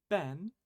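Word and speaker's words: 勉: But more often than not, this kanji is going to be pronounced ben, the onyomi for this kanji, as we see in benkyou.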